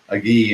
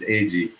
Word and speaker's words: Agee: It's funny, I just heard you pronounce your last name and realized for years I've been pronouncing it Agee and it's Agee.